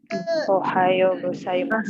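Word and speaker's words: おはようございます: Su, tapi u-nya mulutnya tidak monyong. Ohayo gozaimasu.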